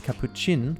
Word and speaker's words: capuchin: in the livestream that it is Capuchin like chin but there is still